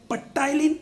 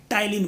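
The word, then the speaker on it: ptyalin: कई लोग इसको पटाइलिन बोलते हैं, जैसे स्यूडोपोडिया को पसिडोपोडिया बोलते हैं। तो याद रखें ये गलत प्रोनाउंस है, आपको याद रखना है कि यहाँ पे पटाइलिन ना होकर क्या होगा, टाइलिन होएगा।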